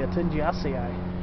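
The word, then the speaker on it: Altingiaceae: sweetgums so again they're in the altindia family atenji asea a-l-t-i-n-g-i-a-c-e-a-e but they used to be labeled as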